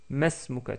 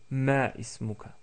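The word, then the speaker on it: ما اسمك: Donc comme si on mettait le alif qui est juste avant le signe. Nous voyons plus tard pourquoi on peut le mettre. En tout cas, vous pouvez prononcer Masmuka tout court au lieu de Ma ismuka.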